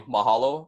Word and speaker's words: mahalo: our fourth word which is going to be Mahalo I'm sure a lot of you have heard